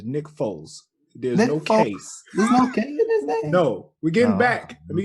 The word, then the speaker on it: Nick Foles: with it back anyway nick folks was it's nice first of all you're not you're gonna stop saying the name wrong he is a super bowl winning quarterback it is nick foles there's no case no